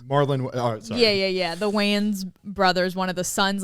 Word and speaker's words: Wayans: Yeah, that Waynes. Marlon. Oh, sorry. Yeah. The Wayans brothers, one of the sons, like lived there and blah, blah, blah.